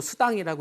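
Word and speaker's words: Sedan: 프랑스의 스당이라는 지방이 있어요 그 프랑스어로 스당이라고 읽는데 스펠링은 세단이 똑같습니다 예전에 가마 시절부터이 프랑스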